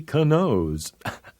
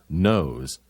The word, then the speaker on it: knows: the fool who made up that rule nobody Kano's I mean knows here's another one WR when a word begins